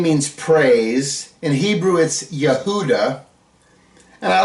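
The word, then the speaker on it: יהודה: way judah's name means praise in Hebrew is Yehuda and I like to point this out Yehuda is spelled yud he V dollet hey notice there's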